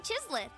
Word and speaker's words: chislith: Oh, we call this a phlogiston chislith. Good things happen if you infuse it with phlogiston. Phlogiston or phlogiston. Okay, so soft G. Phlogiston. Sure. Chislith. Like a monolith, but chiseled and way smaller.